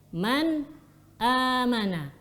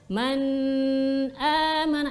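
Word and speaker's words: مَنْ آمَنَ: ah perhatikan sarung bacanya man aamana man aamana kita tidak boleh membacanya dengan memanjangkan ghunnah nya nggak boleh baca Men Eh mana ini bacaannya salah yang keliru dan juga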